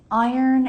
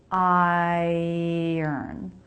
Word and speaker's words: iron: Iron and ironing board. Okay, tough words here. It looks like it should be I-ron, but it's not. Actually, the R comes after the vowel in the second syllable.